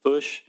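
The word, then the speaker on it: Fourche: Foosh? Foosh, like push with an F?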